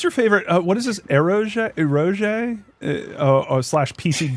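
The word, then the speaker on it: エロゲ: Uh what's your favorite What is this eroge eroge?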